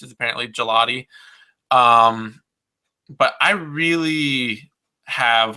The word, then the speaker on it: Gigliotti: it look like gigliotti but that's how it's pronounced is apparently gelati um but I really have a lot of